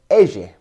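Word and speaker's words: elle: Next are the letters double L, which are pronounced ege, ege, which comes up in the words like lluvia or me llamo. And it's pronounced with a y sound, y, much like our letter Y.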